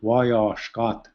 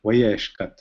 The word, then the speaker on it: Wayeshkat: Wayeshkat, and then the second Wayeshkat, instead of, I don't say Wayashkat, we say Wayeshkat.